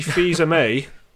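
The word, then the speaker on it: Fils-Aimé: Reggie's god bless him Reggie fees are may I think is how you say it announced his retirement as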